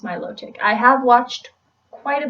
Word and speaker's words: Milotic: I'm pretty sure it's pronounced Milotic. I have watched quite a bit of the anime. I'm pretty sure they pronounce it Milotic. Some people pronounce Milotic like melodic, or I think that's